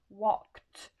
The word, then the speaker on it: walked: Et en face de cette lettre K, on vous dit que si c'est K, le ED va se prononcer en T. D'accord? Ça donnera donc walked avec le son T.